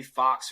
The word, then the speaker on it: Fuchs: c h s 91 so J fox or J it's spelled looks like Fuchs J Fuchs 91 would